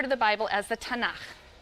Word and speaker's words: Tanakh: Tanakh, which is really the letters T, N, and Ch. And they put little A's in there to make it easy to pronounce, because it's hard to pronounce.